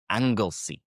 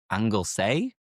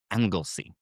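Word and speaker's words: Anglesey: angle C which if you look at the spelling you would think it's angle say perhaps but it's angle C but the tip is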